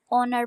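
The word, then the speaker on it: honour: का मतलब है एजाज यहां पे एज साइलेंट है इसको ऑनर प्रोनाउंस करना है ऑनर एजाज डिस्टर्ब परेशान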